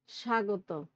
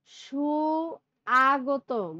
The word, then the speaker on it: স্বাগত: দেখো আমরা সব সময় বলি স্বাগত, ঠিক না, এটা হলো স্বাভাবিক উচ্চারণ এবং সহজ। আমরা কিন্তু সুআগত বলি না, সুআগত।